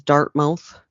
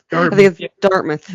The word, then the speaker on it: Dartmouth: in dartmouth nova scotia everyone else in canada mispronounces it as dartmouth dartmouth is correct um on the weekend